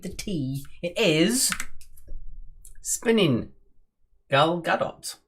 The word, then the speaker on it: Gal Gadot: tea it is spinning gal gadot gal gadot okay so you do pronounce it with the t yes i think it's